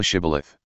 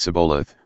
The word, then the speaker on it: shibboleth: said they unto him say now shibboleth and he said sabolath for he could not frame to pronounce it right then they took him